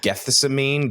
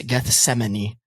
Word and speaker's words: Gethsemane: I looked up the pronunciation for specifically that one because I love that song and I'm pretty sure it's Gethsemane.